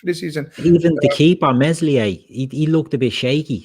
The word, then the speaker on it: Meslier: Even the keeper Meslier, he looked a bit shaky, stuck with him.